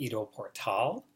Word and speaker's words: Ido Portal: by a man named IDO portal which is spelled I do and then last one was Pilar tal like portal which if you've never